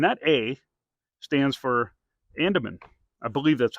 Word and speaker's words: Andeman: good here and that a St stands for Andaman I believe that's how you pronounce it it's a n d e m an Andaman and uh you know just really nice good